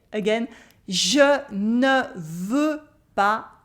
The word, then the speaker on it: pas: And now, je ne veux pas. I don't want. Here the S at the end of pas is silent.